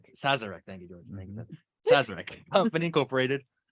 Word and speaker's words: Sazerac: okay I'm gonna have a really bad time pronounce this says Sazerac Sazerac thank you George Magnus Incorporated are being sued